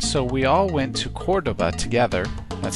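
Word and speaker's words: Córdoba: So Kevin and Anne Marie wanted to visit Cordoba, and so we all went to Cordoba together.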